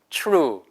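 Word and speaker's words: true: 요 그 다음에 츄 추 루 여기서 이거 발음이 표 루가 아니에요 t 다음에 r 발음은 출발은 난다 고 했죠 제가 그래서 이거는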